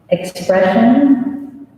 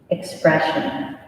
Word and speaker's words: expression: pizza tangents tangents this word has two pronunciations i'm going to say the way they say in ohio first but then i'll give you the other one okay expression expression sometimes ian's grandfather would